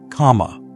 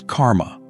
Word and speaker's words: kamma: The Buddha called these seeds kamma, what we now often pronounce as karma.